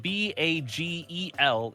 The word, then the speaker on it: bagel: So, For the record, from a purely phonetics perspective, given that the word has its origins in Jewish culture but English adjustment, and that it is spelled B-A-G-E-L, it should be a long A sound, bagel, because it doesn't have two G's. If it had two G's, it could be bagel, but it is one G.